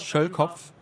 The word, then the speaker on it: Schölkopf: So the last name in German is pronounced Schölkopf.